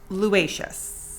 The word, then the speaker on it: Luaices: Luaices.